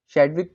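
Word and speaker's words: Chadwick: तो मैं इनका यहाँ पे पहले नाम लिख देता हूँ, किसने करी थी, जेम्स कैडविक ने की थी। चैडविक कह लो, चैडविक कह लो, वो अपने हिसाब से आप प्रोनाउंस कर सकते हैं।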